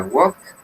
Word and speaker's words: walked: Entonces la pronunciación termina en K. Entonces, ¿cómo sería? Con T. Entonces la pronunciación sería the correct pronunciation with T is Javier. Yeah, walked o walked.